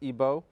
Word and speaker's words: Igbo: He's studying at the Florida International University, but he comes from Nigeria from the Igbo tribe, otherwise pronounced Ebo.